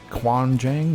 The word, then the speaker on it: Gwangjang: we went to the kuanjang market it's spelled with a G but it sounds like a k Quan Jang Market and it was a